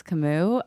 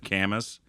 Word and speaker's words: Camus: for me it was camus um no i i said one time oh man this is so embarrassing one time i pronounced it canvas and uh and then